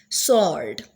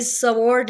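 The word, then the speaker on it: sword: पास आ गई है सर्ड अब यह स्वर्ड नहीं है डब्लू साइलेंट है डब्लू के नीचे अंडरलाइन करेंगे तो हो जाएगा सर्ड नेक्स्ट है रंग डब्लू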